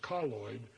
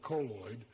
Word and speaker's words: colloid: and we recommend colloid which are colloid depending on how you pronounce it the preferred pronunciation is colloid although most people call it colloid and you can make